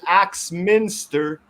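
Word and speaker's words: Axminster: village in britain called axe minster you're in the wrong website it's like a minister with an axe but the axe is spelled a x that's exactly awesome thank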